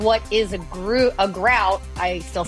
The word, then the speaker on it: gruit: Debbie down all this it's actually pronounced grout that's all really no I literally